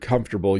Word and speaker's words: comfortable: Now, when you see the word comfortable, you might want to try and pronounce all of the sounds in the word, but we just say comfortable.